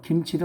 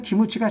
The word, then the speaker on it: 김치: 이 사람들은 기무치가 자기네 음식이라고 그럽니다. 김치. 우리는 김치 그러죠. 김치 발음이 그 사람들이 안 돼요.